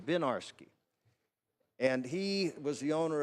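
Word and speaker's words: Winiarski: one of the Legends a fellow named Warren vinarsky isn't he pronounced his name benarsky and he was the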